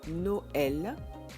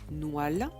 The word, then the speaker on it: Noël: Par exemple, sur un E, il va se prononcer est, comme dans Noël, Canoë, Israël, Joël. S'il n'y avait pas de tréma sur ces E, Noël se prononcerait Noal et canoë, canoa.